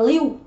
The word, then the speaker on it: lieu: Nhiều bạn bảo là em thấy chả giống tiếng Anh gì cả, đọc là liêu liêu à? Của cái từ này chúng ta là liêu, liêu nhá, in lieu of.